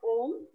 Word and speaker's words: om: would say a syllable we call it om so a um if you write it as in the english letters and this is a very symbolic way as in because then you say the syllable oh so you start you open your mouth you sustain the sound for a bit and then you close your mouth so that signifies you